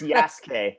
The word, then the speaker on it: Yasuke: new hit netflix series yasuka i don't think i'm pronouncing that right because oh you're pretty close it's it's yes k yes okay most people go like yes so you're actually closer than most yeah that's nice that's